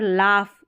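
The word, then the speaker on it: laugh: और यहाँ पर लाफ, एक जो लाफ की स्पेलिंग है हंसना, तो इसमें भी GH फ है ना, इस फ के लिए आपको GH लिखना है।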